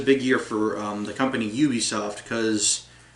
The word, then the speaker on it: Ubisoft: And as a bonus to Ubisoft, it's pronounced Ubisoft, right?